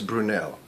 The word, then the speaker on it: Brunel: My name is Brunel.